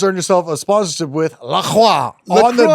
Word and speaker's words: LaCroix: Yeah, but what you just did right there is you just earned yourself a sponsorship with La Croix on the dot. LaCroix. It rhymes with boy.